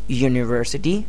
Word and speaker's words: university: start with you right but the initial sound of university is y University and umbrella uh umbrella uh uh the direct the sound is directly coming from your throat so umbrella uh is you know is a vowel sound and University y the initial sound is a consonant sound now uh a very